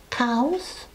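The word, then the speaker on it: Cowes: important elements here one is the town of cows not spend is spelled like the animals as you can see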